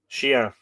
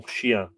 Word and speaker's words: chien: You don't say the N at the end of that, do you? Chien? Let's hear that. Mon chien. Mon chien. Chien. Bonsoir, mon chien. Bonsoir, mon chien. Lightly, says Miriam. So you do pronounce it, but lightly. Exactly. It kind of goes up your nose.